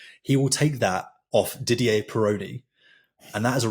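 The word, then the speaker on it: Didier: He will take that off Ddier Peron and that is a record that has been I'm pronouncing it right. Diddier.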